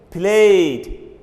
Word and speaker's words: played: we pronounce the e d as that we pronounce the e D as the not it for example play played played played the same planet don't say played